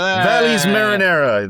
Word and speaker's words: Valles Marineris: Uh how do you how do you pronounce the name of this episode, Mike? Uh Valles Marineris, I think. Valles Marineris, that's exactly what it is, 100%.